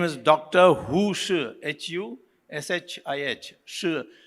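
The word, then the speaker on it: Shih: Shi is pronounced, spelled that way, I don't know why.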